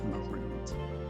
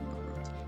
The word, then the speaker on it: Marut: Actually, his name was Marut. That's how you say it. Marut. m a r u t a root like ma your root.